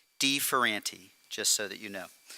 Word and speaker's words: de Ferranti: Deever aunty thank you and thank you for the pronunciation not everybody here may know exactly how to pronounce my last name so it's de fer auntie just so that you